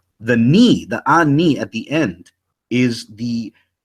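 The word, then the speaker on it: אֲנִי: Those who know Hebrew, standard Hebrew, would say it's pronounced ani, right? And they would say, no, it's pronounced anaya, or the Torah Night cats would say ane or something like that.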